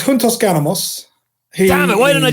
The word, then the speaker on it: Puntos Ganamos: Give us the proper pronunciation first. It's Puntos Ganamos.